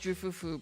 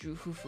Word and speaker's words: Ju Fufu: I'm pretty sure the F for like Fufu is pronounced Hu, Fu. Kind of like almost like a Hu. I don't know how to explain it, like HWU, like Hu. So it's actually, it can be pronounced Ju Fufu, but can also be pronounced Ju Hufu.